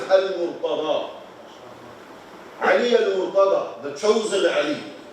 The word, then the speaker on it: al-Murtada: But in Arabic is al-Murtada.